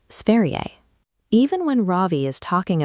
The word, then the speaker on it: Sverige: The word for the country, Sverige, has a soft ending. You pronounce it Sverige.